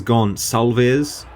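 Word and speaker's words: Gonçalves: variation so this is gone salvez thank you to those in the comments tell me telling me it's a s pronunciation not a c so thanks for correcting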